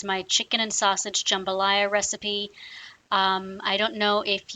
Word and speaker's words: jambalaya: Jambalaya is the pronunciation for this dish. It's not jambalaya. Please don't say that. It's not made out of jam.